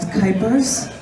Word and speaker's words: Kuypers: My name is Kuypers. Rhymes with hyper, though I won't be hyper right now.